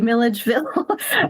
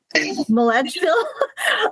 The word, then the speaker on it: Milledgeville: bit about Milligville, which I did not know how to say Milligville? And I and I spelled it wrong and I said it wrong. Milledgeville. But anyway, you know, I had never heard of Milligville, Georgia.